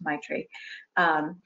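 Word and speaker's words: Maitri: was the might regroup M AIT RI is print pronounced my tree and my tree group my tree is based in loving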